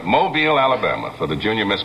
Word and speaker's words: Mobile: I was down in Mobile, have to say it right, Mobile, Alabama, for the Junior Miss pageant last evening.